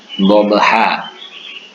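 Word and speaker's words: ضبحا: Contohnya itu seperti wal adiyati dobha. Dobha itu tulisannya adalah dobhan. Tapi tanwin fathatannya itu an itu diganti menjadi alif. Diganti menjadi alif. Dibaca panjang menjadi 1 alif.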